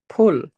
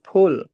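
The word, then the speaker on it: 풀: dibacanya l Mul empat pull ada H-nya ya, Teman-teman ya. Bian dibaca ada H-nya full. Jangan full tapi full.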